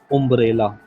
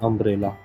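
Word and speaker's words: umbrella: जैसे ये अम्ब्रेला लिखा हुआ, अगर हमें ये नहीं पता होगा कि इसमें आ का भी साउंड आता है तो हम इसे कैसे पढ़ेंगे, उम्ब्रेला, जो कि गलत है। इसकी सही प्रोनाउंसिएशन है अम्ब्रेला, ठीक है।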